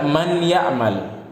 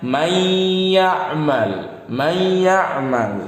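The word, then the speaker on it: مَن يَعْمَلْ: Kalau orang yang tidak mengerti hukum tajwid, dia akan membaca man ya'mal. Padahal bacanya salah, keliru. Yang benar gimana? Nun bertemu ya, nun sukun bertemu ya, dibacanya diidghamkan. Diidghamkan itu dimasukkan ke huruf setelahnya. Apanya yang dimasukkan? Nun sukun atau tanwinnya. Nun sukunnya di sini dimasukkan ke huruf setelahnya. Ya-nya jadi sukun. Gimana bacanya? May ya'mal.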